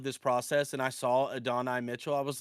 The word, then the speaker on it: Adonai: It's Adonai, but he goes by A.D. Mitchell. He's listed by as A.D.